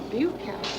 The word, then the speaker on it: Bukowski: Buke to rhyme with puke, yeah. Bukowski.